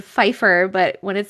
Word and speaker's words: Pfeiffer: The P is silent. I know that P is silent in the word Pfeiffer, but when it said Lil Fife, I didn't realize that's what it was.